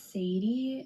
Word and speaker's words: Sadye: so that is so funny because my oldest daughter, her name is Sadie. It's spelled Sadye though, and her dad was like, "Oh, that's my grandma was Sadie."